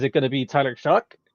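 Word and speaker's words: Shough: Which by the way I just realized how to say his name today. Um, it doesn't look like it like as as a choir guy, somebody that has literally studied how to pronounce things. No, it doesn't make any sense to me. No, I was over here saying Tyler Shu try to show and nope, I'm not even close.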